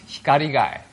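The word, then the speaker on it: 光害: Japanese light pollution is written like this uh pronounced hiar guy Hikari means right and Guy means her uh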